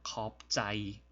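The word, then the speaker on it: ขอบใจ: 짜이 단모음이고 평성입니다. 짜이라는 말을 쓰는 경향이 있습니다. 그래서 컵짜이, 컵짜이라고 발음을 합니다.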